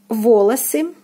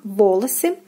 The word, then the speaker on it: волосы: Next we have волосы, волосы, волосы. The first O is stressed and the second unstressed and is pronounced as A, волосы.